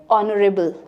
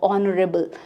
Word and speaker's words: honourable: always put AN like Honourable, it starts with H, H is silent, that is why O is counted, o·nuh·ruh·bl that is why I